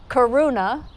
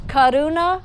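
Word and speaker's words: करुणा: is Kaduna hum so if you don't roll your R's it's Karuna but it's Kaduna hum in sanskrit how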